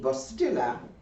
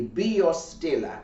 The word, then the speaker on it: Biostilla: out and try the Bastila B or Stiller say it correctly be your Stiller because b oz means life and it is just